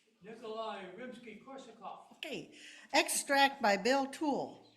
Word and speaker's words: Nikolai Rimsky-Korsakov: Nikolai Rimsky-Korsakov.